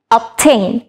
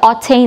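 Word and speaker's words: obtain: and same এখানেও কিন্তু টি এর আগে বি আছে অ্যান্ড এটা প্রোনাউন্স হচ্ছে মানে অপটেইন আমরা কিন্তু অপটেইনই বলছি আমরা কিন্তু অটেইন এরকম কিছু বলছি না সো দ্য রাইট প্রোনাউন্সিয়েশন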